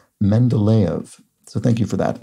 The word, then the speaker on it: Mendeleev: points out regarding pronunciation the name I pronounced Mendeleev is pronounced Mendeleev so thank you for